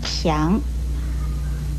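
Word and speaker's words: 爿: 与片字字形相反的是这个强字，强字的国语注音是西洋强二声强。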